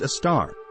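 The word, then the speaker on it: Sagittarius A*: Sagittarius A is the name of the supermassive black hole in our galaxy, our own Milky Way. Pronounced a star.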